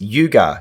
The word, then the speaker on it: Yugar: to the Yuga tunnel she said no you mean Yaga tunnel and I said no it's Yuga you need to learn how to say it properly and she looked at